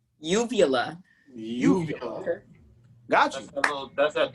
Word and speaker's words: uvula: How you pronounce that? Uvula? Uvula.